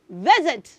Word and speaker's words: visit: attention to something children the letter s in that word is having the sound Z not s okay hence the reason we say theit not vit so can we break